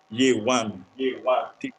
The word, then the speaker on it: Yewande: We are having Peter Clarke and Yewande Akinola. On many grounds, I've seen Yewande Akinola trying to teach those that are non Nigerians how to speak his name. I'm how to call his name. Yewande.